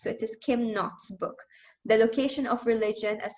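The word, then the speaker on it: Kim Knott: k n o TTS but I think the K is not pronounced so it is Kim not book the location of religion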